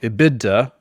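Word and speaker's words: EBITDA: And so how we usually come up with that is it's called iida. It's called an iida multiple.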